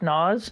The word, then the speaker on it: Naz: I've gotten word that Naz is pronounced Nas.